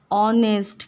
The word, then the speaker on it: honest: तो ऋतु वॉज एन ऑनेस्ट girl, ठीक है, एन लगेगा, ए नहीं लगेगा, क्योंकि हम ये एच से ज़रूर स्टार्ट है, बट हम लोग इसको प्रोनाउंसिएट कैसे करते हैं, ऑनेस्ट करते हैं ना, ऑनेस्ट, इसलिए यहाँ पे एन लगेगा, एन ऑनेस्ट गर्ल।